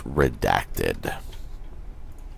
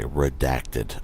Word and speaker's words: redacted: going to call this redacted that's how you pronounce it by the way redacted not red acted not reacted forgetting the d because you're gonna get